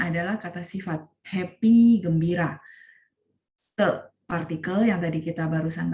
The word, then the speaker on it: 得: Khusus di sini karena dia dibaca te, dia adalah sebagai partikel yang menghubungkan kata sifat dengan kata kerja.